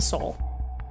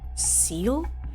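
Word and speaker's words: Seoul: Soul which funny enough I learned how some people pronounce that City's name is seal and I was like what they're like yeah I'm going to seal and I was like you and I'm like looking I'm like soul and they're like yeah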